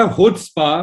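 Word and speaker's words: Chutzpah: इसका जो प्रोनाउंसिएशन है वो है हुत्स्पा।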